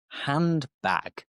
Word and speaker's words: handbag: Handbag. Again, this D is dropped and we just say handbag.